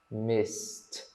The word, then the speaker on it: missed: Tem a mesma pronúncia, tá?